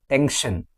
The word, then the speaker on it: tension: For example, tension, extension, expression, discussion, tension.